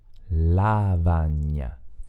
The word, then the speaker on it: lavagna: Il suono gn è formato dall'unione di consonanti G, N. E per finire il suono A, lavagna.